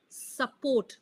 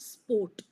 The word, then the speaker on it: support: And support. Not sport. Sport would be different.